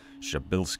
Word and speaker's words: Przybylski: a bit of Polish I'm told that something close to the proper pronunciation for the star is shabil star I'm sure I got